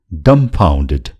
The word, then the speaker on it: dumbfounded: यो शब्दमा यो बी अक्षरको उच्चारण छैन. Dumbfounded नभएर dumbfounded. र यो dumb शब्दको अर्को पनि अर्थ छ.